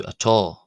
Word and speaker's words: atá: In this particular case, the letter A is pronounced differently in the northern and southern dialects of Gaelic traditionally. In Munster and Connacht, generally one will hear the A pronounced as an aw, closer to what we have in our English word law, aw, as opposed to in Ulster, as an ata, as opposed to atá, atá, atá.